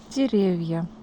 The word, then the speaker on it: деревья: Деревья. The stress changed its place and now it's on the second syllable.